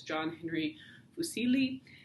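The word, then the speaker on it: John Henry Fuseli: his name so he has an english pronunciation of his name which is john henry fusilli um he's lives from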